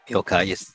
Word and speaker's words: Yokai: Yokai? Yep, Yokai. It's pronounced it correctly.